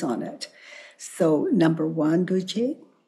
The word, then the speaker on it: Gauthier: Gu honey is is am I pronouncing your name? So how do you how do you say your name? Gucci.